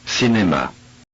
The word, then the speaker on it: cinéma: The letter C without c'est dit, followed by an E or an I, is pronounced like an S. Cinéma, Cinéma, cela.